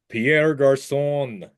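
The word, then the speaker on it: Pierre Garçon: it Pier gar right Pierre garon the nice little curly queue on the uh SE right there that's culture Tim I'm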